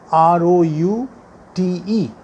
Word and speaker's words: route: the root to usa r o u t e but if you pronounce this as root no one will understand you because they pronounce it as route so the american words